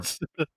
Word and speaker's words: Gewirtz: I It's think, Brian or Gortz. it's Gewert's. It's Gortz. Brian It's Gortz. It's GEWIRTZ. It's Brian Gortz.